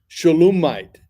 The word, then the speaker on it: Shulamite: notes from before know shulamite shalum Mite is actually how they would pronounce it shalum Mite you have